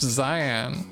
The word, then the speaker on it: Xian: Hey, my name's Cyan. Pronounced Cyan.